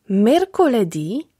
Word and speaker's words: mercoledì: Mercoledì – środa. Giovedì – czwartek. Venerdì – piątek. Sabato – sobota. Domenica – niedziela. W słowach od poniedziałku do piątku akcent pada na ostatnią sylabę.